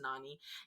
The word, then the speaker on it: Nani: that way but I know his name is pronounced Nani and um Renault hacker beautiful talented actress renal